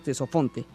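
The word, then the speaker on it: Ctesifonte: Sí, esa ciudad la van a conocer como Tesofonte, se escribe con C y con T, entonces le decimos Tesofonte, que en griego significa lleno de sonido.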